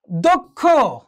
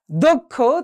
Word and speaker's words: দক্ষ: এবং দেখো পদের মধ্যে বা অন্তে যদি হয় তাহলে কি হয়, ক খ, অর্থাৎ প্রথমে হচ্ছে ক অর্থাৎ অল্প প্রাণ উচ্চারণ হবে, পরবর্তী সময় মহাপ্রাণ উচ্চারণ হবে। যেমন দেখো দক্ষ, দক্ষ, তাহলে কি হলো, প্রথমে হচ্ছে ক, পরে হচ্ছে কি খ, অর্থাৎ প্রথমে অল্প প্রাণ, পরে হচ্ছে কি মহাপ্রাণ।